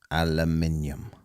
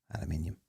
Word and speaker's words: aluminium: Aluminum. Aluminium.